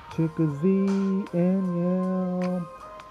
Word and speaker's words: Chicozie Anyiam: Trick or Z and Young. Z in the middle. Trick or Z. Z at the end.